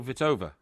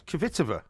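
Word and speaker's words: Kvitová: No, Kvitova. It's Kvitova. No, it's not. It's Kvitova. No, the K is silent, honestly, believe it me.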